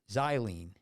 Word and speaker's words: xylazine: and then dope d-o-p-e an animal tranquilizer and it's spelled x-y-l-a-z-i-n xylene which has been linked to severe wounds and